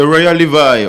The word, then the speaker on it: Royal Levy: C'est Royal Levi, original Royal Levi.